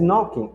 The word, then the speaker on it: knocking: pronúncia delas ou perdão, algumas letras elas não são pronunciadas. Nesse caso, a o que vai acontecer é do K e do G, eles não vão sair.